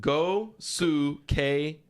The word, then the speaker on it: Gosuke Katoh: a pronunciation here thank you so much you pronounce It Go Su K to gateau gateau go Su K go k